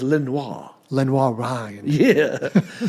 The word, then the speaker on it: Lenoir: have a university called Lenor Ryan yeah but it doesn't say Lenor Ryan it says Lenoir Lenoir Ry yeah because it is a French word and that's how they would probably pronounce it originally of course we changed